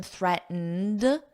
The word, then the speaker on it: threatened: already did it so notice the pronunciation threatened just a soft D at the end Trump threatened or it